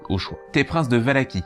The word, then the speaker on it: Valachie: T'es prince de Valachie, qui se prononce peut-être Valachi, mais vu que je trouve ça super moche, je vais dire Valachie.